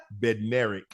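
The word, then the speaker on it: Bednarek: Beneric or Bederic? Beneric. So where' the D come from? Dead. But you said his name is Beneric.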